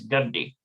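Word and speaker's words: גדי: It's not Gadai, it's Gadi.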